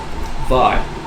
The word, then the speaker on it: Vi: Vi. How do you spell that?